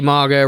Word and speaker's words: Margot: Bloody Margot Robbie. Her name was Margot, but we forgot to pronounce the T because we're very casual down here, mate.